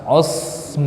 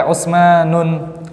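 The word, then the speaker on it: عثمان: Contohnya apa? Usmanu, akhirnya alif nun, tidak boleh Usmanun.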